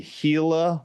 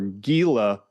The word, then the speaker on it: Gila: Some of those peptides are a Gila monster lizard, or Gila, Gila. I pronounce it Gila.